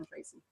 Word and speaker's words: Treacy: It's Treacy, like good. treacle. Right. That's without the LE.